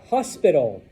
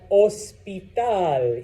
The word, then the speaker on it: hospital: Hospital. What is that word in Spanish? Hospital. Yes, slightly different pronunciation because remember, H's are silent, so it's not hospital, all right?